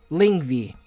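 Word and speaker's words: Lyngvi: In the OG mythology, he was taken to a secret mythical island named Lingvi. And yes, that's a correct pronunciation because I looked it up, damn it.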